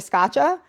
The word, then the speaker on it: Scaccia: so I'm like Gotcha Scotcha. It's not not one of those fancy Italian last names. It's just hard like Scotcha.